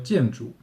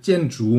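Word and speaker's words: 建筑: 还有建筑，如果你是台湾，你可能觉得，哎，这个声调好像有点不对，不是建筑吗？也就是先要第四声，然后第二声，就是台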